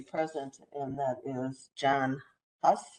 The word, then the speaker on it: Husz: and that is John Husz. Is that how we say it? H-U-S-Z. Is that correct? Am I saying it right, Mr. Husz? Yeah, SZ, right? Okay, good.